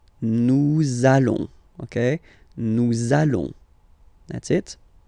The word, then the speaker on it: nous allons: I'm sure you are, you want to make this beautiful and little liaison, so this little link between the words, so it does mean that you will have to pronounce this z sound, okay, listen to me, nous allons, nous allons.